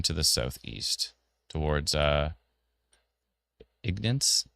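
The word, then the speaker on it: Ignace: Ignance. How do you Elena? How do you pronounce that? She would know. She's the pronunciation queen. Um sorry, what are you trying to pronounce? Ignis. Ignis. Ignis. Okay, perfect.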